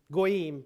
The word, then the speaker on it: goyim: Yeah, it's kind of that's a Yiddish pronunciation of the goyim.